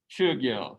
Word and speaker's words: Chogyal: The OE sound in shoe is this kind of a similar name here. So this first syllable is chu, Chogyal.